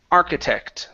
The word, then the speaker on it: architect: And the last one is architect. Make sure to pronounce this T at the very end.